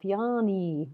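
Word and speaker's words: Bjarne: And we pronounce the E at the end of the name like Bjarni. Brilliant. All right, Bjarni.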